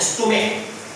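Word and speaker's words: stomach: दो एक्सेप्शन में यहाँ पे लिखा हूँ, स्टोमक और मोनार्क। स्टोमक और मोनार्क, इसका यह स्पष्ट ये है कि अंत में CH है दोनों में, लेकिन दोनों में CH का उच्चारण क हो रहा है, तो उस परिस्थिति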